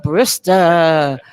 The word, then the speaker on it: Brister: Brister. That's right. All right, all right. Rhymes with Mr. You said it just. Mr. Brister.